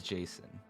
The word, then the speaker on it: JSON: the the person who made Jason says it's Jason I'm pretty sure I don't really care it's